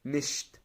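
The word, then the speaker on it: nicht: قلنا عليهم، نبدا ان احنا ننطقها زي ما بننطق الضمير الشخصي اللي هو انا. اش. اش. او اداه النفي نشت.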